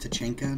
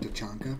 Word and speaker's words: Tachanka: Apart from common belief, it's actually pronounced Tachanka, not Tachanka. Special circumstances do permit for Tachankla. That's the only acceptable nickname.